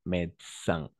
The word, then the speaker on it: médecin: Et en général, on va prononcer le mot qui commence par IN ou que finisse en IN, on va prononcer un, d'accord? Un, nasal.